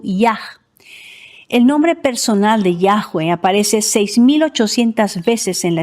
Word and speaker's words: Yahweh: Por otro lado, la historia griega revela que la pronunciación era Yahweh. Clemente de Alejandría transcribió el nombre en griego en forma de Yahweh.